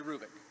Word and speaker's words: Hrubec: e c terry krubik the h is not pronounced terry rubick she did studies of